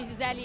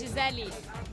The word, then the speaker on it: Gisele: Because it's like in Brazil we say Michele, Gisele, you know, it's all with the E in the end, but for Americans it's hard to pronounce it, so I understand, it's fine.